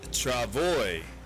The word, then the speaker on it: travois: Apparently it's pronounced Travoy.